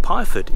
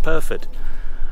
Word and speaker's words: Pyrford: to P PR perod it's called perod I was calling it pford it's perod pronounced perfed um so I'm heading